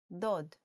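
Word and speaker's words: דּוֹד: last nikode for today with the sound of o this is how you make VAV sound like oh let's write this the o DOD and now in print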